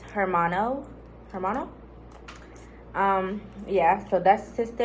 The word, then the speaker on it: hermano: It's hermano.